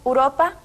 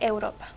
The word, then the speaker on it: Europa: lugar de friego y mencionamos uropa en lugar de Europa el vulgarismo número siete